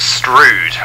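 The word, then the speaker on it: Strood: There are, and we usually pronounce it Stroud.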